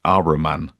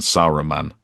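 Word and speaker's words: Saruman: Not that I'm a Tolkian purist, but the every time they said Araman rather than Sarro man, I was just like, what?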